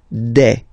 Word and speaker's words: des: Okay, and then the plural form, des. All right, here S, you pronounce it like e.